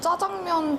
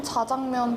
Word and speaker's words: 자장면: 맞아이 맞는거 아니에요 는 짜장면 자장면 둘 다 맞는 걸로 알고 있어 가지고 둘 다 바른 표기법 아니에요 둘 다 맞다고 할 수 있습니다 짜장미엔이라고 작 장면을 발음을